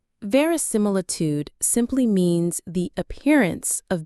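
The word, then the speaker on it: verisimilitude: Very similitude. Very similitude. It's a long one. The main stress is on that third syllable from the end. Mill. Very similitude.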